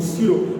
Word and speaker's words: pseudo: PSEUDO, स्यूडो, P silent रहता है, इसलिए कहते हैं कि इन वेक्टर के डायरेक्शन में पार्टिकल खुद नहीं होता है, झूठा।